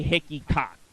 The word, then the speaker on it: Hickeycock: So I'll just say Hickeycock, because that's how her name is pronounced.